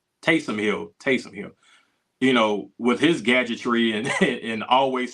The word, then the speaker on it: Taysom Hill: you got Kamara and Tyson Hill, who, or am I saying it right? Taysom Hill, with his gadgetry and